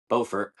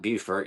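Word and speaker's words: Beaufort: where I'm currently at in Bowfort, not Buert, even though it's spelled the same.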